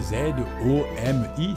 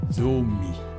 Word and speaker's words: zomi: Et maintenant, nous arrivons à 10 qui se dit zomi. On écrit Z-O-M-I, ça fait zomi. Parce que le Z en lingala se prononce de façon forte.